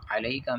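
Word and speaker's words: عليك: Line کے اندر جو غلطی کی جاتی ہے وہ علیکہ میں جو عین نظر آ رہا ہے یہاں پر حمزہ ادا کر دی جاتی ہے اور ایھا النبی پڑھا جاتا ہے، جو کہ پنجابی لہجے کی غلطی ہے۔ تو ٹھیک کس طرح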